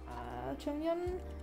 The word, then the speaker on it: Jonghyun: However, Jonghyun, that's how you're supposed to say his name,